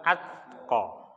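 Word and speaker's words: الأتقى: Maka hati-hati dalam pengucapan atau dalam makhraj, ya. Pertama ashqa, kemudian yang kedua atqa.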